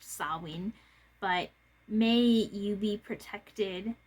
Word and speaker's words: Samhain: Samhain is underway, which it looks like Samhain, but it's pronounced Samhain.